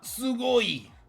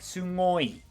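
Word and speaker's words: すごい: But it almost sounds like some people put a little N before the G, as if they're pronouncing NG and not just G, like sugoi. Sugoi.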